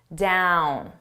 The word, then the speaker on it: down: Now, listen to me Dawn. Down. There are very similar because they both have open mouth positions.